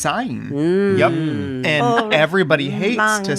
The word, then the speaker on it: Syne: Auld Lang Syne. Yeah, it's not said that way. Oh, you say it some way. It's a traditional Scottish. Syne. So it's Zayn.